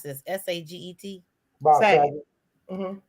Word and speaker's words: Saget: Saying with Bob, how do you pronounce this? S-A-G-E-T?